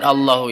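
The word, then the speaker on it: الله: Lafaz Allahu itu kalau dalam bacanya huruf lam dibaca tafhim. Kenapa? Karena lafdun jalalah, lafaz jalalah didahului oleh fathah sebelum lafaz Allah. Itu fasyarallahu, Allah, jadi tebal dibacanya.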